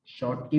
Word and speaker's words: Schottky: लेट अस डू नाउ स्कॉटकी defect. शॉर्ट की भी बोल देते हैं, स्पॉट की भी बोल देते हैं प्रोनाउंसिएशन के अकॉर्डिंगली। तो लेट अस सी now what is this.